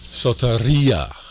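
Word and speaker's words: σωτηρία: Sautaria is how it's pronounced.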